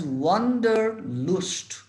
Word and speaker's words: wanderlust: Wanderlust he has wanderlust or wanderlust. এই শব্দটা দুরকম উচ্চারণ হয়, wanderlust বা wanderlust।